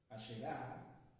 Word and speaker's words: Asherah: grandes rasgos la historia de Ashera, Asherah, se pronuncia de varias maneras, la esposa de Dios.